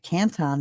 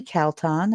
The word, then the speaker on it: Calton: I've been calling it Canton. It's actually Calton.